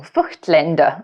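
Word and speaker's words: Voigtländer: The only other brand that I'd like to see some more lenses from is Voigtlander. or Fuchtländer, as we've been told to pronounce it.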